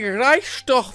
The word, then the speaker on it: Reichstag: there is that oh dear lord it's the reichstag yes that is how you pronounce it and it is also an awesome